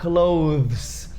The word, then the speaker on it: clothes: Primeiro porque tem esse TH, só que esse TH é emendado com um ES, que tem som de S. Então, tenta falar clothes. É muito difícil falar esse TH com S. Inclusive, é difícil até para os nativos. Tanto que, no inglês americano e em alguns outros dialetos do inglês, eles simplesmente falam clothes, com som de Z mesmo, não colocam a